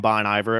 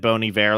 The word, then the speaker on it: Bon Iver: that bony bear but people would call him Bon Iver at first and then if you said boney bear like around people they'd be like oh you're so fancy but you're really saying it right and you called the